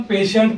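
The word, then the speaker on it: patient: आए तो टी की आवाज श होती कभी भी हम पेशेंट पढ़ते मगर बहुत जनों को नहीं मालूम होता कि ये टी आई ई आ तो श होता लोग क्या समझते हैं कि वर्ड साइलेंट है या प्रोनंसिएशन उनको समझ में नहीं आता बहुत लोग क्या करते हैं टी आई ई को पेट पढ़ते क्या पढ़ते पेट एंट इसको पेट पढ़ते उनको समझते कि टी आईई का प्रोना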